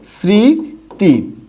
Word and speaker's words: স্মৃতি: এখানেও কিন্তু মফলা শব্দের প্রথম বর্ণে আছে, তাই এটার উচ্চারণটা কি হবে? স্মৃতি।